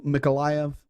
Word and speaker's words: Mykolaiv: Right in the center of the map below Mykolaiv, or Nikolaev, either pronunciation.